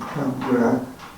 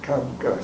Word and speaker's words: Capgras: Now he pronounced his name Capgras, but in this country it's called Capgras syndrome.